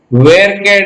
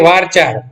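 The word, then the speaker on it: VARCHAR: दूसरी data type जो आती है उसका नाम है वेरकेर डेटा टाइप। कुछ बच्चे क्या करते हैं, इसको प्रोनाउंस करते हैं वारचार। वारचार नहीं है, इट इज कॉल्ड एज वेरकेर। वापिस सुन लेना इसका प्रोनाउंसिएशन, वेरकेर।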